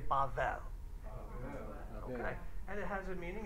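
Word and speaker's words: בבל: letters this time but that's how you would pronounce it everyone say bavel and it has a meaning it's confusion there's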